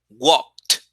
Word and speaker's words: walked: So when you make it in past, it's unvoiced, you make it with a t. And you say walked, walked, walked, walked. I walked. Okay, that's how you say it.